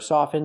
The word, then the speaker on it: soften: in the word soften with the verb soften the t is always silent now let's look at